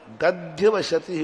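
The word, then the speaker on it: दध्यवस्यति: अब यहाँ क्या, मिथ्या दर्शनोदया दध्यवशति, उच्चारण क्या करोगे, मिथ्या दर्शनोदया दप्य नहीं दध्यवशति, दध्य दध्य, तो निकलेगा क्या, मिथ्या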